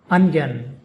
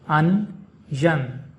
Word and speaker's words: onion: The emphasis is on the first syllable un.